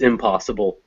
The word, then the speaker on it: impossible: misspelled that actually it's impossible the impossible is stressed on the pause part and the reason is is because that m is actually just making it not that m is a prefix meaning not so it's so we